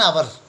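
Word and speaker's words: hour: एन आवर, एन आवर, आवर means एक घंटा, एन आवर एक घंटा, क्योंकि एच अ की आवाज़ निकाल रहा है, एच साइलेंट है, एच यहाँ पर साइलेंट है।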